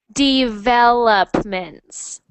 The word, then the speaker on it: developments: Developments. Development. Developments. development. And make sure you're saying the s at the end there. Developments.